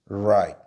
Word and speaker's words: right: 자, right. R 무슨 발음? 리을이에요. I 무슨 발음? I-E-의어인데 I를 가져와. 자, G-H는 장식이죠. T는 무슨 발음? T고. 그래서 합치면 다 right이 되는데 R이니까 혀를 많이 꽈야 되죠. 그래서 그냥 right이 아니라 어떻게? right 이렇게 right이라고 발음을 하셔야 돼요.